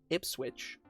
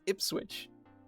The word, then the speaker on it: Ipswich: The worst one, Ipswich, will be pronounced Ipswich. Like it's spelled like that. But no, that's an H. It's Ipswich.